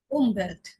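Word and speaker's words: Umwelt: আরেকটা এক্সাম্পল আমরা দেখতে পারি ক্লিয়ার হওয়ার জন্য, উমভেল্ট, উমভেল্ট হচ্ছে পরিবেশ, উমভেল্ট, উ, উ, ইউ এর উচ্চারণ উ।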